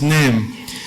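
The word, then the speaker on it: ⲛⲉⲙ: What letter does this look like in English? Looks like an N, pronounced like an N. This one, E, looks and pronounced like an E. And this one, this is an M, so this is Nem.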